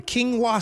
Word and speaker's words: quinoa: Quinoa. It's spelled like it looks like as in k e n. It's not quinoa. It's quinoa. We got to go.